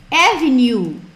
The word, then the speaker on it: avenue: Se fosse avenida, avenue, avenue. Eu sempre faço uma brincadeira para lembrar a pronúncia de avenue. É de couro? Não, avenue.